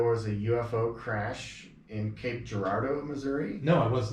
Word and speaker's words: Cape Girardeau: Girardeau so he was he was he was pronouncing it like Depardieu sharat dude that's how he was sick oh my gosh Cape Girardeau so so that was interesting there was also